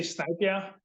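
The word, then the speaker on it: Snejbjerg: Peter Snier. Is that is that the correct pronunciation of the name? That's very close. Um I say Snipia, but it's it's it's that's fine.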